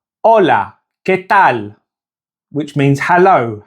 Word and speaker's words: hola: And to say hello in Spanish, it's hola. Now remember that the H in Spanish is silent, so the pronunciation is hola.